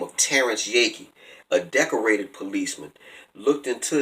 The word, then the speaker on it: Yeakey: Yakey is spelled Yeakey.